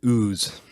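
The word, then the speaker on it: OOS: that position was like spelled oo s and they pronounced it ooze which was perfect I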